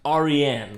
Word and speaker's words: Aryan: And it is a Persian name. It's pronounced Aryan.